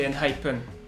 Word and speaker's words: ENHYPEN: Ouais, mais comment ça se prononce? N-Hypen. N-Hypen. Ah, bah finalement, on s'est gouré la dernière fois, c'est N-Hypen. N-Hypen.